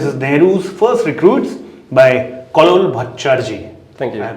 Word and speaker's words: Kallol Bhattacherjee: This is Nehru's First Recruits by Kallol Bhattacherjee. Thank you.